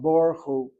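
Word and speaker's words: ברוך הוא: In fact, I read the kamatz as an or sound, Baruch Hu. This is not a short kamatz in Sephardic pronunciation. This is an ah sound, and consequently the shva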